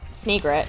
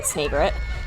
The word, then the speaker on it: Snagret: is a burrowing snagret snagret I think actually cuz it's meant to be a combination of a snake and an egret so I think the proper pronunciation would be snagret but yeah this is